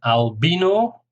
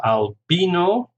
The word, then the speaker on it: albino: If you want to listen and repeat the pronunciation, albino, three syllables, stress on the second syllable, albino.